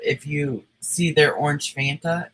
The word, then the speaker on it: Fanta: F Fanta. like Frank, Anta, like Santa, but with an F.